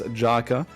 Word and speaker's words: Jaka: Or Yaka, I guess, if you want to be correct in terms of pronunciation. Is it Yaka? If you want to pronounce it in a German kind of way, then yes.